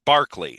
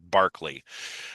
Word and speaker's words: Berkeley: So, uh, Berkeley's or Barkley, I should say. It's spelled Berkeley, but it's actually pronounced Barkley.